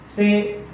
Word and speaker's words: psi: P is silent.